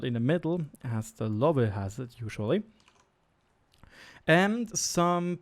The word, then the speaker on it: Löwe: It has this distinct E75 hull, a Löwe turret, when you want to say the German pronunciation, with added panzer plates, armor plates.